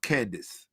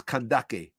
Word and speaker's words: Kandake: Latinized is pronounced candis and its original tongue is kandake.